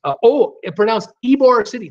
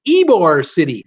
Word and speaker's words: Ybor City: Pronounced Ybor City. Thank you, Elizabeth, and thank you, Tommy. I'm looking at Ybor going, what? It's instead of Ybor, it's Ybor City.